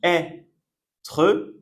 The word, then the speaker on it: être: Être. Donc on prononce est.